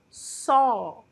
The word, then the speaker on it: saw: Em seguida, nós temos o verbo ver no passado, que é só. Só só. Bem parecido com uma palavra nossa em português, né? Só.